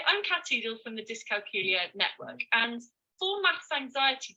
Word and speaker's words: dyscalculia: Okay, so I have dyscalculia, which rhymes with Julia, and I was diagnosed when I was 10.